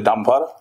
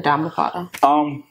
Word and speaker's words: Dhammapada: How you pronounce it again? The Dhammapada. The Dhammapada.